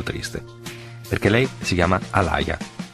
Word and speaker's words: Aaliyah: Se c'è un destino nei nomi, chiamarsi Alaya ha un significato molto preciso. Alia, così si pronuncerebbe nelle sue lingue originali, solo che gli americani dicono Alaya, naturalmente.